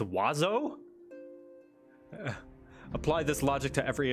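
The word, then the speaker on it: oiseau: playboy all right remember the french word for birds is which is pronounced wazo apply this logic to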